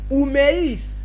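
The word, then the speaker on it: ὑμεῖς: été traduit ici, après soyez, c'est le mot oumeis. Oumeis. Voyez-vous? Oumeis. Oumeis. C'est ce mot qu'on n'a pas traduit par nos traducteurs. Pourquoi? Point d'interrogation. Voyez-vous? Mais que veut dire oumeis?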